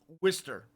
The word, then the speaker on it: Worcester: Even though it's spelled Worchester, it's pronounced Worcester.